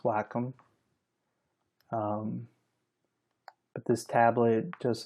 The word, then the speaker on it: Wacom: is a um Wacom tablet and it is pronounced Wacom um but this tablet just allows me to